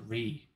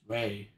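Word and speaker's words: Rei: How do you pronounce it Ree? It's Ray. I don't know why I pronounced it Ree.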